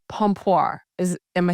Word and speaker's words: pompoir: So today we're talking about uh vaginal gymnastics and it's called pompir.